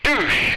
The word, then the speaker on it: douche: No, I looked up the French pronunciation of douche, and in French it's douche. There's no hyphen, there's no schwa, there's no nothing on it. It's just douche.